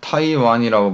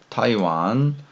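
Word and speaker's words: 台湾: 자, 이건 대만이죠. 타이완이라고 발음합니다. 타이완.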